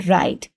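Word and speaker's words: write: For example W इन राइट राइट में जैसे W pronounce नहीं हो रहा और यह इनिशियल कसोनेंट है।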